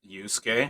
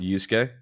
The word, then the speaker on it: Yusuke: sass me too much but how do you pronounce the what's the main character's name yusuke yusuke yusuke they call him something else though with